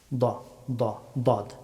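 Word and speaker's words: ض: স আস স সু আস সদ হরফটি মুখবর্তী করে উচ্চারণ করতে হয়। দদ দদ হরফটি উচ্চারিত হয় জিপার বাম অথবা ডান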